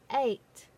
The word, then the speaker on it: eight: What is the sound of E in eight? You're correct. It is silent.